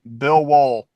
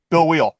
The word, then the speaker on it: Wheel: JB Rants, Dan the Waterman, Bill Wool. Oh wait. Bill Wheel. Ha! I remembered.